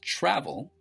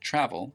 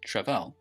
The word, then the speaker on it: travel: so in this case travel right the stress is on the first syllable travel it's not pronounced trevell okay this is different